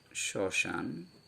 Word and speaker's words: শ্মশান: যেমন শ্মশান, দেখুন ম উচ্চারিত হচ্ছে না, কিন্তু এই যে স-এর সঙ্গে যুক্ত ছিল এই স-এর স্বরধ্বনিকে সানুনাসিক করে দিয়েছে।